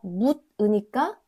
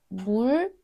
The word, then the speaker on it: 물으니까: The 디귿, 듣, changes to 리을, and we say not 듣으니까, it goes to 들으니까. Also, not 묻으니까, it changes to 리을, 물으니까.